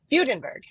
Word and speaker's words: Fudenberg: Tell us how to pronounce it correctly. Fudenberg. German, so it should have like the two little dots above it. Right. No dots, but yes, that's the correct pronunciation.